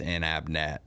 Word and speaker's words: Inabnet: So Inabnet, which there's two N's, so it's pretty simple. It's just Inabnet, but a lot of people for like Inabnet, right?